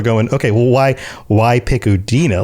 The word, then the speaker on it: Udina: Well, most people don't really know that that's actually the pronunciation. Like, only those closest to him know that that's like. He doesn't like to correct other people, but it's actually Udina. I've heard some people actually pronounce it Udina.